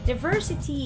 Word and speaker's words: diversity: number 19 is diversity diversity is stress on the second floor and it means that